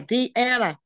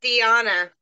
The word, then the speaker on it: Diana: do you say it it's Diana Diana sorry I tell everybody put the D in front of the yarn and you'll get it well it's okay so